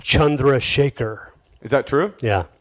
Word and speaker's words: Chandrasekhar: you play in uh in India the name is pronounced chundra Shaker is that true yeah Chandra Shaker Chandra Shaker how do